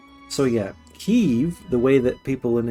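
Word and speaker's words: Kyiv: of saying is Keith the Russian way of saying it is Keith and we're now saying Kiev and the Ukrainian way of pronouncing it is cave the way we're now being told to say it sounds more like the Russian than Ukrainian whereas Kiev sounds like neither of them like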